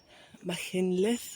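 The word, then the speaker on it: Machynlleth: Yeah, I've um found myself booking the campsite in Mckinlith, I think is how you pronounce it, but everyone calls it Mac, which makes it easier.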